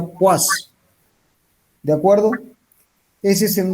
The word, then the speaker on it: poise: Se escribe poise y se pronuncia poise.